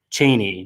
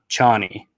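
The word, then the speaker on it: Chani: by the voice recording of frank herbert it's pronounced chaney not johnny so i hate that frank made a mistake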